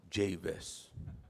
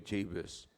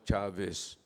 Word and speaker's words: Jabez: na lang hindi kayo Javis, Jabis kayo. Yung iba naman Chavis. No, in the Bible they pronounce it like Javis.